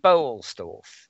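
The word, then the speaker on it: Boellstorff: Tom Bolstorff, I think. Bolstorff, yes. That's how you pronounce it.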